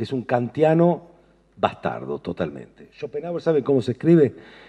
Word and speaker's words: Schopenhauer: Entre Kant y Nietzsche hay un filósofo que se llama Schopenhauer. Hm. Que es un cantiano bastardo totalmente. Shopenhauer. ¿Saben cómo se escribe? S H O P E N H A U E R Schopenhauer.